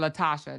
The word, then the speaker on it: Latoshia: Well, Latasha, that's how they say her name.